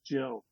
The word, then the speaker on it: Gill: But then you find out that actually Gill has a soft G. Her name is Jill.